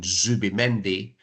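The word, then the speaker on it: Zubimendi: in the English language so if I'm commentating on say Martin zuim meni I would that's how I would pronounce it rather than thi because if I try to th do the th which the span is natural to them it's not natural to me so I'll probably get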